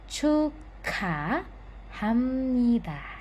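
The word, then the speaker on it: 축하합니다: Di sini, 'giyeok' bertemu dengan 'ha' atau 'hi'. Ya, chukha hamnida.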